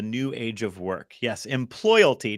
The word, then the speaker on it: Employalty: Yes, employalty, just like loyalty, but EMP at the beginning. Employalty.